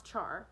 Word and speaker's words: Char: has been changed here they call me which sounds more like a sneeze than a name they can't pronounce char and i can't persuade them to call me ishar they are so formal they say buy or leave more often than they say anything else the aorthians think before